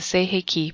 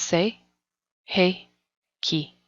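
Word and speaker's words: Sei He Ki: chokure the second Reiki symbol say hickey the second Reiki symbol is the say hey Ki pronounced say hey Ki this is the emotional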